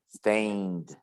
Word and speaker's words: stained: stained remember the pronunciation or don't pronounce the e okay you say stained and stained yeah it's